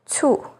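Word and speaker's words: 醋: C sounds like ts, as in cai, vegetable or dish, cu, vinegar, and cai cuo, to get something wrong.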